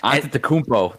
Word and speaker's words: Antetokounmpo: No, my son pronounces all the names perfectly. Antetokounmpo.